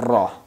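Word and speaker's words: ر: will be pronounced raw Sora has basically three condition almost in true condition it becomes bold like Robin has Zabur our page this will be bold or raw raw when it has downsides ear it will be light like a la la so it has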